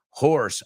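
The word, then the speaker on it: hoarse: Horse, afónico. They're homophones. I heard a horse American. Esta se escribe H-O-A-R-S-E, pero se pronuncia igual que caballo.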